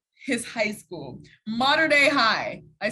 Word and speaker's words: Mater Dei: spencer shannon he just taught me how to pronounce his high school modern day high i said it right yeah yes ma'am